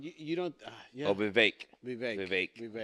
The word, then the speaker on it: Vivek: Vivek. That's how you say it, like Yeah. a cake.